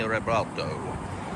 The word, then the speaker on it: Revuelto: working on a 2026 Lamborghini Revuelto, which is a Spanish fighting bull, so that needs to be pronounced in Spanish.